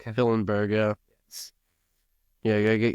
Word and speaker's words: Hillenberg: power that hillberg did I say it right hillberg hillenberg yeah yeah you got get your friendship ring